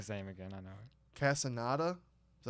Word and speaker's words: Castaneda: Castaneda. Is that how you say it? Yeah. Castaneda.